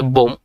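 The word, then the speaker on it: bomb: নাম্বারে আছে বোম, এখানে বিটা উচ্চারণ হবে না, যার অর্থ হচ্ছে বোমা।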